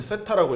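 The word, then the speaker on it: θ: 각이 안 나와서 이거는 이제 세타라고 읽으면 돼, 세타.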